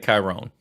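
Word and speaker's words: Kyrone: with a K and in the English language and most other languages in the world that KY is a hard k whatever and o n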